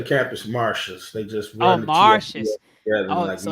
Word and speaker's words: Martius: marshes they just want marshes so it's not Martius it's marshes it technically stands for